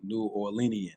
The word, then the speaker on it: New Orleanian: So, you talked about you know, pretty much being a New Orleanian. That's how you pronounce it, right?